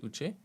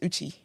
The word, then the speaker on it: Uchi: It's not pronounced Uche? No, it's Uchi.